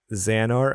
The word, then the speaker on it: Xehanort: You might need to help me with some of this pronunciation. Go for it. Project Xehanort. Xehanort.